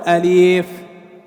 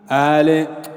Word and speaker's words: ألف: انتبه، بعضنا يقول أليف أليف ألف، كله سنة ألف لا مد فيه.